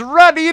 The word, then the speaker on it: Ruddy: He may know a little bit about the movie Elf because his last name is Ruddy, that rhymes with Buddy, who is the elf.